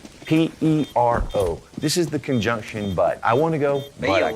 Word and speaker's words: pero: Use the E sound. Remember, all E's sound like E. All O's sound like O. We're not going to round our lips. And we're just simply going to say this. Now, try it all together. Pero. Pero. Pero. Pero. There you go. Take your air out. Flap your R.